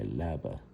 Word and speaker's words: leaba: And I am going to my leaba.